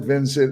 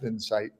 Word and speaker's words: Vinsight: like vinet it looks and everybody calls it Vincent Le so you're not the first must I as YT but pronounced vinsight yeah and I I kept asking uh Rich